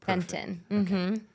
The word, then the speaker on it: Fenton: And today, I'm so honored to have Fenton. Thank you so much for joining us. Thank you. I'm happy to be here. Did I pronounce your last name correct? Yes, you did. Fenton.